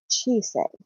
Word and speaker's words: Chisei: I am Chibi Chisei, and yes, it's not cheese. No matter how much you want to pronounce it like American spelling, it's actually Japanese. So it's Chisei.